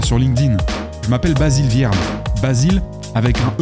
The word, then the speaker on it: Vierne: Je m'appelle Basile Vierne. Basile avec un E comme empereur à la fin. Et Vierne, ça s'écrit V comme Viagra, I comme imbroglio, E